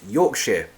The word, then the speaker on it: Yorkshire: is a big step Marcelo asks Yorkshire or yor York yes it's pronounced Yorkshire good tea bags um